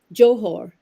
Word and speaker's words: Johor: or cleaning out and when pronounced with the arabic soft h it means essence or substance speaking of the book